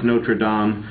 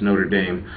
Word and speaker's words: Notre Dame: you're in France it's notredam you know if you're in the US and you're talking about the football team it's Notre Dame so just the pronunciation